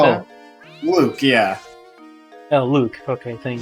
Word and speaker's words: Luke: or something like that Luke yeah oh Luke okay thank you yeah because in Japanese is pronounced as Luka so I thought okay it's luuka or something like that and well now